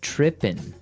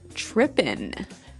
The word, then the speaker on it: tripping: So they started talking about girls and he mentioned that this girl started tripping. Tripping. Tripping. So to trip, right? As you notice, it's tripping. It doesn't have the G at the end, which isn't really grammatically correct, but that's kind of the way it's pronounced.